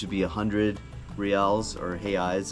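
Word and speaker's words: reais: be 100 real or hey eyes is how they pronounce it properly but 100 real um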